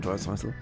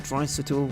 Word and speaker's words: Draisaitl: and I suddenly realised that Draisaitl rhymes with bicycle, and therefore I could